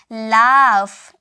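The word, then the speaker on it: laugh: कि लिखना नेक्स्ट है एल ए यू जी एच इसे हम क्या बोलते हैं इसे हम कहते हैं लाफ इसे हम कहते हैं लाफ लाफ का मतलब क्या होता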